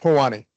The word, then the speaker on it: POHANI: Uh, as far as I know, it's not Hawaiian thing, but it's it's pronounced Pani.